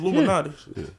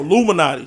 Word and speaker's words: Illuminati: it Lum Nati Luminati I thought it was Luminati no Luminati no Illuminati just Illuminati uh with a PA